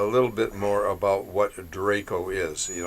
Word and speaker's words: DRACO: Yeah, yeah, I would have spelled Draco it the dragon. Draco the Dragon. I would have spelled it Drakko, but then it wouldn't fit the acronym. But anyway, But that's how it's pronounced.